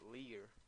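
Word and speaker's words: leer: r and um means to read but you pronounce it Lear in actually oh no I'm just in Spanish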